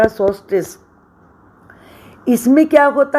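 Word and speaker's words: solstice: एल तो silent रहेगा, सोल्स्टिस।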